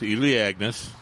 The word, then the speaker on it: Elaeagnus: It's Elaeagnus, right?